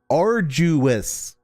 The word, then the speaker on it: arduous: Arduous. You know the thing that Isaac Heinler wants to kill. That's the correct pronunciation.